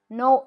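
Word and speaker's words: Noël: Noel L. Can you see how E is pronounced separate to O?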